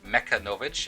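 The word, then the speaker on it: Mechanovich: Uh Mecca Novich is how that's pronounced. Uh mech is like machines and then ovich is kind of like uh to my understanding in Russian means son of.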